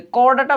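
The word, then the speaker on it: Chordata: এটা হচ্ছে করডাটা মানুষের ফাইলাম হচ্ছে করডাটা ওকে করডাটা বানানটা ইংলিশে একটি ইম্পরটেন্ট মজার জিনিস এটা চড় ডাটা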